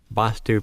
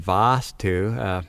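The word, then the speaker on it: vāstu: twos that are one basta basta pronounced where the a is pronounced quickly and spelled B with one astu and Vaastu pronounced with the longer time held for the a and spelled v ee s tu and the difference is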